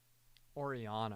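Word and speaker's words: Orianna: Oriana. I keep forgetting Oriana. I keep wanting to put an S in there.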